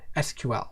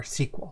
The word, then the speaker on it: SQL: And one of the ways we can do that is with something called SQL or SQL. It could be pronounced either way. Usually in English-speaking countries, it's pronounced SQL, and in more international areas, it's pronounced SQL.